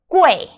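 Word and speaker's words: 贵: how do you pronounce this okay this we pronounce way way way means expensive so the UI sound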